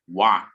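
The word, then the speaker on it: वाक्: Vak, not vak. It is halanta. The pronunciation is half.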